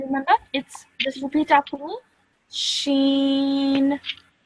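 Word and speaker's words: ش: How would you pronounce this? Can you remember? Just repeat after me. Sheen. Sheen.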